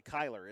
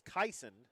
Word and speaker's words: Kaison: Brody Scott and um I keep thinking I'm gonna say his name wrong kaison Stone I keep want to say Kyler it's kaison kaon kaison Stone um two uh